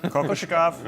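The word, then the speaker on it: Kokoškov: Kokoshikov?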